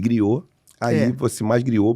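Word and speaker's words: griot: E griou aí você mais. Griou. Bota tráelo que se escreve G r i O T. . O T. Isso. Got. Isso. Tem mudo.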